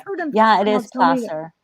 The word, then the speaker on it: Placer: Yeah, it is Placer.